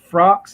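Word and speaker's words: Frakes: terminator pet cemetery jonathan jonathan frank frocks that's how you say his name commander william riker yeah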